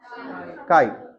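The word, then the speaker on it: chi: और सी एच आई क्या pronounce करेंगे काई कई लोग इसे चाई बोलते हैं ये क ही है लाइक केमिस्ट्री नॉट च केमिस्ट्री ठीक है तो ये काई है किसी ने कुंफू पांडा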